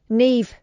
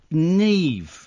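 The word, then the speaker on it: Niamh: Eve and Neve. Neve. It's spelled N I A M H.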